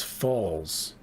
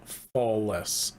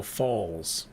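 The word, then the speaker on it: Fawles: quickly the text Scrolls would be pronounced the same as Falls not not Fess oh oh fallsa thank you so this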